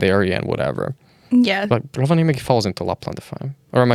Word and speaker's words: Rovaniemi: So you're originally from Rovaniemi. Yes. And am I even remotely properly pronouncing that?